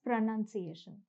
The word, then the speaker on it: pronunciation: People often confuse it with the word pronounce. Now, pronounce is pronounced as pronounce, but pronunciation is pronounced as pronunciation.